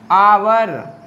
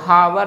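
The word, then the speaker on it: hour: इसे आवर बहुत ध्यान रखिएगा एग्जाम्स में फेवरेट क्वेश्चन है एच साइलेंट वाले और शुरू में ही रहते हैं तो आप सोचते हैं कि एच है तो हावर हो सकता है।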